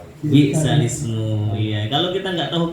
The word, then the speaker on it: بئس الاسم: Yang gharib bi'sal ismu dibaca bi'sal ismu.